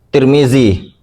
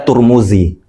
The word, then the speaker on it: Tirmidzi: Imam Tirmidzi. Biasa orang juga bacanya Turmudzi. Ada yang membaca Turmudzi, ada yang bacanya Tirmidzi.